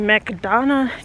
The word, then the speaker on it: McDonough: Like, I was born in McDonough, Georgia. I just say it like that because it sounds like McDonald's. I always thought I lived in McDonald's when I was little, but I was born in Georgia.